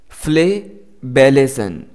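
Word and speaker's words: flabellation: फ्लेबेलेशन इस तरह से इसको प्रनाउंस करना है।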